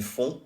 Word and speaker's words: font: So even though it ends in T, you don't pronounce the T.